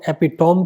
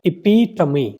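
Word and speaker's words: epitome: अब अगर आपको लग रहा है कि इसको एपिटोम कहते हैं, तो आप कभी भी करेक्ट फोनेटिक ट्रांसक्रिप्शन पर जा ही नहीं सकते। इसका करेक्ट प्रोनाउंसिएशन क्या है? इपीटमी, ऐसा समझ लीजिए, इपीटमी।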